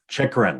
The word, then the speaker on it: Chychrun: for the young defenseman out of arizona jacob chikran am i saying it right this time yes